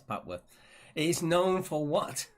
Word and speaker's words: Papworth: It's Papeworth. It's not, it's Papworth.